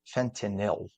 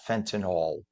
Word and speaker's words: fentanyl: the way it's pronounced fenil not fentol drives me nuts when people say fentol there's no o it's yl o means chemically it's